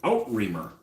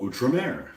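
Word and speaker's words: Outremer: to pronounce it I always read it at out rer let's just say it's not pronounced that way I didn't know I never heard anybody pronounce it before you know I will now call utra Mer but I did not know that all right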